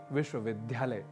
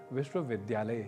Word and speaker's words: विश्वविद्यालय: ही बोल रहे होंगे जैसे एक प्रसिद्ध उदाहरण है विश्वविद्यालय जिसे आप अक्सर सुनते होंगे विश्वविद्यालय के रूप में जो कि गलत है इसका शुद्ध उच्चारण विश्वविद्यालय ही है तो बात यहां इतनी